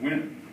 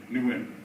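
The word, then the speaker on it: Nguyen: when I got here I didn't know how to pronounce win cuz they had changed their name to make it more American they didn't change it from when but we all pronounce it new win and I couldn't get that end out of my when I first came here six years ago I called every win new win because my friend in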